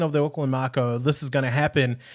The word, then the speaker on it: Mako: would always pronounce it Mako with a Canadian accent, but it's Mako. So I kind of have to remember it like I'm saying Marco Polo, but without the R.